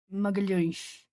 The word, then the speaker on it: Magalhães: If that person was Portuguese from Portugal, then it would probably sound almost like an SH. Magalhães. That's how it sounds for Portuguese from Portugal.